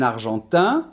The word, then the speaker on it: Argentin: la tempe aden exactement un argentin le masculin on va pas entendre de haine alors que si je